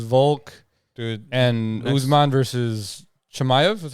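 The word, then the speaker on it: Chimaev: getting Islam versus vul dude and Usman versus chamv is how you say it next week is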